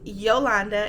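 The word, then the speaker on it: Jolanda: Yes, it is pronounced Yolanda and yes, it is spelled with a J.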